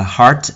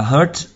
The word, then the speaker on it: heart: Trái tim đọc là heart, âm a trong các bạn nhé. Nhớ là như vậy. Nhiều bạn đọc là hurt là nhầm với lại nỗi đau đấy.